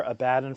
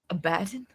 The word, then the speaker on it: Abaddon: Sage's Thor, Abaddon from Lucy Buns.